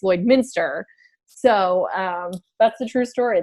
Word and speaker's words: Lloydminster: there correcting everyone and telling them it's not Lloydminster, it's Lloydminster.